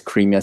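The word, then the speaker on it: Crimea: So yeah but no it's Cremia state it's not crime.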